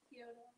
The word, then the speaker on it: Kyoto: Kyoto.